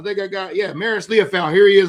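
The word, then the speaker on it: Liufau: Not Leo, Leopoul. Yeah, not Leo, not Lo, Leafoul. Go ahead. Yeah, Maris Leaf. Let's see. I think I got I think I got Yeah, Maris Leafoul.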